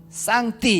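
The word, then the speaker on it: 上帝: 중국 발음으로는 쌍띠 이렇게 번역하고 있는 거지요.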